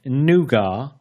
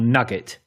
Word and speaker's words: Nougat: It is, depending on your pronunciation, Nougat, Nougat, or Nugget.